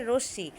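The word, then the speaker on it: রশ্মি: আচ্ছা আমরা এটা অনেকে রশনি বলি। এটা ভুল উচ্চারণ। কারণ আমরা এখানে রশ্নি বলবো না। এটার নাম হচ্ছে রশ্শি।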